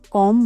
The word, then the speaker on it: comb: I comb my hair. B is silent here.